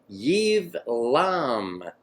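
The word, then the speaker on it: Ibleam: and their villages bathe shane bathe Shia gardening Eve LOM that we hit that one there they spell it a bleem but it's pronounced Eve LOM they really miss that one up door endured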